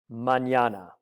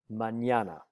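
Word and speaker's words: mañana: to the spanish alphabet it's pronounced en ye and it produces the sound manana please note the word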